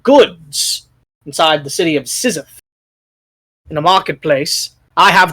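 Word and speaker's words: Szith: does it say what city the city of Sith okay Sith you spell that for me s z i t appreciate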